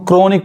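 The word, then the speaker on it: chronic: तो यहां देखिए इसको हम क्रोनिक पढ़ेंगे, एच नहीं पढ़ाएगा।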